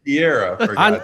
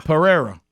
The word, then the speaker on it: Pereira: had messed it up say it mike say it right foreign and then the way we like steak rare pereira yeah mike so mike